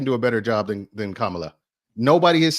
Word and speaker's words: Kamala: It's Kamala. Kamala. Kamala. Okay. No, it's Kamala. Dude, you know Otis can't pronounce words. Go ahead, Otis. Good Lord. It's better than y'all saying Carmela, like you were saying earlier.